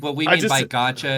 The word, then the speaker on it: gacha: c h it's an actual genre of games gacha is Art how it's pronounced that art style right off the bat